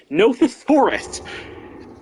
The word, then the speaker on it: Nothosaurus: another animal whose name I apparently mispronounced. Nothosaurus.